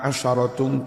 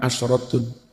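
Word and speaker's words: عشرة: wasalam membaca asyarah itu kalau bilangan asyarah itu dewean bacanya sinnya di fathah tilka asaratun kamilah bukan asratun Ya sampean kalau nanti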